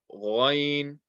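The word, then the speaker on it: غين: Ghain, ghain, ghain. This is from the top of the throat, has the same makhraj as kha, and again, this is a heavy letter.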